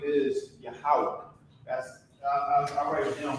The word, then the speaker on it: Yahweh: Yahweh. This is how you will write this phonetic pronunciation.